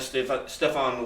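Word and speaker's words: Stefen: Nick Allegretti had two offensive snaps before today, and Steph, do you pronounce it Stefan? Yeah, he goes Stefan.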